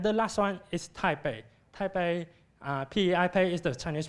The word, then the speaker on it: Taipei: Taipei, P-E-I-P-E is the Chinese pronunciation of this Chinese word, and which means that Taipei is located at the North Taiwan.